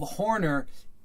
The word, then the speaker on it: Horner: feet then Horner the the notion of Horner you have to see it as rhyming with corner of course Horner and